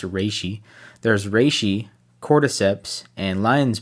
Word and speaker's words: reishi: reishi no not re I keep saying reishi to people but it's actually pronounced Rishi there's Rishi Corps and